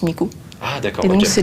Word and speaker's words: Miku: Et donc, c'est le 3, 9. Et en japonais, en fait, ça se prononce Miku.